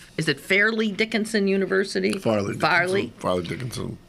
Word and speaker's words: Fairleigh Dickinson: Farley Dickinson. It sure is spelled Fairley. Well, I've always said Farley Dickinson.